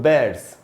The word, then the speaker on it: bear: उसके बाद दोस्तों बैर्ड्स, भालू। अच्छा दोस्तों, इसको बियर नहीं पढ़ना चाहिए, बियर नहीं होगा। भालू का जो नाम होता है, जो स्पेलिंग होती है BEAR, इसको पढ़ना चाहिए बैर, बियर नहीं।